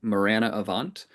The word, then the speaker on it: Marana Avant: And, um, today I have the great pleasure of introducing the newest member of the Octet team, um, Morirana Avant. Um, and I'm pretty sure I pronounced it right.